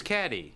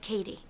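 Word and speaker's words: Cady: film her name is caddy caddy har where are you caddy that's me it's pronounced like Katie my apologies I have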